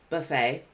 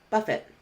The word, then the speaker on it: buffet: situations in their research Buffet Buffett so this word has different pronunciations based on the part of speech and completely different meanings as well so let's review both